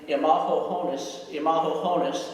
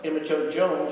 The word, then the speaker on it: Emma Jo Jones: And at ceremonies one year, Bruce kept calling a student's name Imaho Honis, and nobody came forward because Emma Jo Jones was waiting in the background.